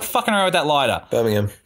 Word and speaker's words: Birmingham: The group were performing in Birmingham, UK earlier this week when a routine stage gimmick... Stop fucking around with that lighter. Birmingham. You don't pronounce the H.